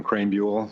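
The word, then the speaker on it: Krahenbuhl: Hello, my name is Crraan Bule. Last name is spelled K R A H E N B U HL.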